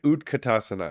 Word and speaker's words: Utkatasana: pose and they may say chair and then utkatasana right utkatasana yeah let's do that did I say it right utkatasana yes is chair pose it's actually Fierce pose